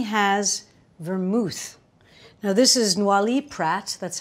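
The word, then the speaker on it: Noilly Prat: that but Martini has vermouth now this is Nali Pratt that's how you say it no Pratt makes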